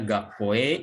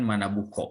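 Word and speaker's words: 学校: Contohnya gakkoe iku diubah menjadi gakkoe ikimasho. Ini yang gaku ini dari manabu tadi ya, manabu karena ini digabung dengan ko dibacanya menjadi gakko, bukan manabuko ya, tapi gakko.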